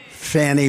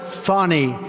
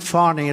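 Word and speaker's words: Fani: happening in Georgia with the horrible case of Fanny Willis. It's It's actually pronounced Fonnie. It's f an AI, but you pronounce it Fonnie. A little French accent there. Fonnie.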